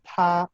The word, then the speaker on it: 他: Los tres se pronuncian igual, pero cuando se escriben, difieren. El primero, este que está aquí, es ta para hombre.